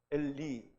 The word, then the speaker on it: 엘리: 하느님, 엘이라는 이 하나님이 거기에 요드가 붙어요. 그래서 엘리가 되는 거예요. 엘리. 그러니까 요드는 이 발음이 많이 나요. 그래서 엘리가 되는데요. 엘리로 발음을 하면서 나의 하나님이라고 그렇게 해석을 하게 됩니다.